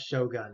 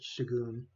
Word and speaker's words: Shogun: shagon I also love the way you pronounce Shogun it's very amusing that you pronounce it shagon all right let's put